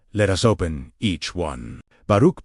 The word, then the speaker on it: Baruch: Baruch, pronounced Baruch, is the Hebrew-Aramaic root for blessing, but its depth far exceeds the English word.